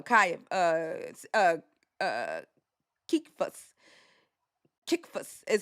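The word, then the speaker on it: Cephas: Uh then he goes, "Then after three years, I did go to Jerusalem to visit uh Kay uh uh uh Kikas Kikas is how you say it.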